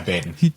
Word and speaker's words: Baden: Am I pronouncing that correctly? Baden? Yeah, Baden.